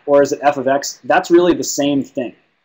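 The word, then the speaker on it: f(x): This is pronounced f of x. That's how you pronounce this symbol.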